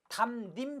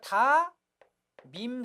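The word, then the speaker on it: 담임: 받침 미음을 그대로 연음하니까 다밈 선생님이 맞습니다, 여러분. 다밈만 맞고 니은 첨가시키는 담님 틀리고, 또 니은으로 발음하는 다님도 잘못된 발음이다라는 것 알아두시기 바랍니다.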